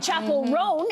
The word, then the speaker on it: Chappell Roan: but Kamala Harris is, and Chappell Roan, am I saying that correctly? That's right. Yeah. Chappell Roan is on the top of the list.